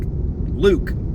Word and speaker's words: Luk: clutch assembly from Luke which I just discovered how to properly pronounce that too because I was like luck or is it or is it like Luke turns out it's Luke so it's a system made